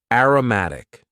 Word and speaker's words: aromatic: Next, we had an adjective, aromatic. And please focus on the pronunciation here.